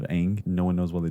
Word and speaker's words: Aang: They called the main character Ong instead of Aang.